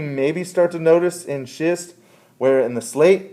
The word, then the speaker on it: schist: of little tiny ones and so this is pronounced schist and if the conditions are right and your